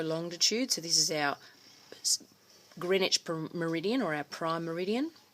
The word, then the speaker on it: Greenwich: And Greenwich meridian is spelt with a W, and it's pronounced Greenwich, not Greenwich.